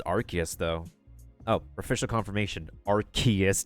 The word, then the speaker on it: Arceus: Arceus, not Arceus. Oh, then again, like, if there's multiple pronunciations of a word, there's multiple pronunciations of a word, so.